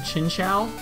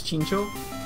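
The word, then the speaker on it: Chinchou: so for some reason I've always pronounced this thing chin shall even though now I know it's chinko and the weird thing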